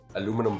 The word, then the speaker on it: aluminum: And aluminium is is is the British way of saying it, but uh Americans say aluminum. Aluminum foil.